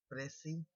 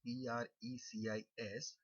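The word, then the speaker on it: précis: with you the topic Preci writing. It is spelled out as Precis, but normally while speaking, we make S silent. So it is not precis writing, it is called preci writing.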